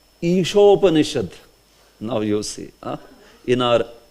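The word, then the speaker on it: ईशोपनिषद्: So, here you have to take care of, this is long E. Sometime when we pronounce usually, we might say it short. Ishopanishad. Like that.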